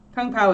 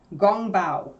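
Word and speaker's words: 宫保: the actual pronunciation like I think Kung Pao is an Americanization or an English anglicization we uh what is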